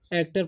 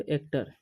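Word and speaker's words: actor: एन से न, एन एक्टर पढ़ते हैं, इसे पढ़ते हैं हम लोग एक्टर। ठीक है, एक्टोर नहीं पढ़ना है।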